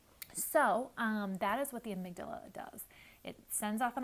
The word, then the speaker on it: amygdala: It took me a long time to actually figure out how to pronounce it, but it's the amygdala.